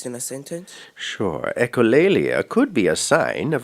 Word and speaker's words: echolalia: Am I pronouncing the word correctly? Say it again. Echolalia. Echolalia, yes.